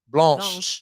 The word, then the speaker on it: blanche: the end of it but Blanche is feminine so you actually pronounce that at the end because car carts is